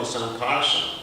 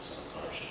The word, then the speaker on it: Sankarshan: So the original Sankarshan, it's actually pronounced Sankarshan, not Sankarshan. It's interesting. Most of the times I pronounce it wrong. It's Sankarshan because it's a nasal.